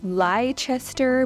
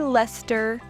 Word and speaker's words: Leicester: Then this one looks like it would say Leicester, but it's actually Leicester.